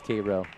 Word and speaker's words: Cairo: you can say dula if you can say Cairo you know how else would you pronounce that Koo Koo I guess that makes sense which is actually how you really say it so you were tested and it is kro Georgia and you failed the test